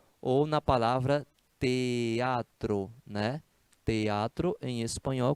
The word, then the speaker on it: teatro: na palavra teatro né teatro em espanhol quando você fala teatro se pronuncia três sílabas Oi beleza bom então